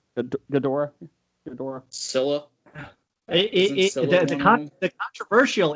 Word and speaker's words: Ghidorah: The, Ghidra. Ghidra. King, I never say it right. Ghidorah.